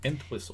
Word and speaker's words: Entwistle: Entwistle. Entwistle or Peg Entwistle, but Entwistle is pretty much okay, I'm clicking the consensus. There we go. It's like whistle and whistle. Okay, but that wasn't her real name.